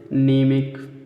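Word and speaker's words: mnemonic: यन आए, ठीक है, शब्द के शुरू में कभी भी यम यन आएगा तो यम क्या रहेगा, साइलेंट रहेगा, ठीक है दोस्तों। जैसे देखिए नीमिक, ठीक है, नीमिक, नीम है, यम, यन, यमी, तो यम नहीं पढ़ेंगे हम, यन से पढ़ना होगी, नीम, नीमिक है।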